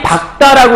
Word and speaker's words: 밝다: 근데 국다 할 때 리을 기읍은 뭘로 발음하냐면 예를 들면 와 다리 박다라고 해요. 다리 밝다라고 해요.